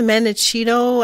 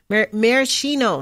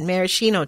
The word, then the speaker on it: maraschino: about this did you the menechino I'm pretty sure I'm not saying it right cherries or like or even like yeah anyway like beetles yeah to the beetles yeah yeah that means that usually believe beetles love grinding them oh yeah yeah that's protein anyway tomato products cakes jams cherries maraschino that's how you say it maraschino cherries that